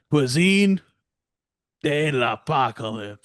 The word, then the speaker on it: Cuisine de l'Apocalypse: Cuisine de l'Apocalypse.